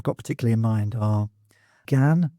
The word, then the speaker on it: gan: Um, the ones I've got particularly in mind are gan instead of go, war instead of our, divant instead of don't, and a instead of I.